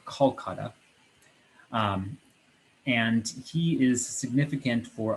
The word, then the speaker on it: Kolkata: to the area that we call calcutta today it's pronounced more kolkata and he is significant